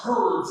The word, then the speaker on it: herbs: Is it herbs and spices or herbs and spices? Herbs and spices. Listen, They both have H. No. Oh, well, the pronunciation is H is silent. Herbs, baby.